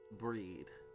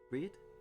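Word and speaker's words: Bríd: A famous Irish saint, is pronounced with a long EE, similar to the English word breed. Brid. Breed? Breed?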